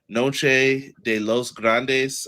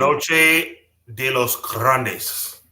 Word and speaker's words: Noche de los Grandes: I hope I'm saying it right. Noche de los Grandes. I hope that's what the name of it was in Monterrey, Mexico. I don't see what you're worried about. You just pronounced it perfectly.